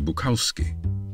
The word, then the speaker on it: Bukowski: henry as his father they also changed the pronunciation of their surname from bukovsky to buckowski the family started out